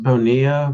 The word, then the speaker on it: Bonilla: fussy about it it's it's pronounced Bonia with the that's what I thought